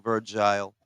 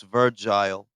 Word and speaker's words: Virgil: um opportunities for young virgile I like mispronouncing his name virgile I put a e at the end of that instead of Virgil it's virgile be mispronouncing that [